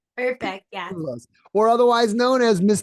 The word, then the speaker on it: Dena Scoullos: Today I've got with me Dena Scoullos, right? Did I pronounce that right? Perfect. Yeah. Scoullos, or otherwise known as Miss Tech Queen, right?